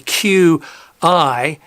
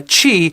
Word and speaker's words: Qi: which is spelt confusingly q i uh in some some places overseas they actually call it qi rather than cheap it's supposed to be pronounced uh chi which is the wireless